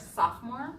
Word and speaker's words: sophomore: So freshman, 2nd year is sophomore. Sophomore. So you don't pronounce the O, silent O.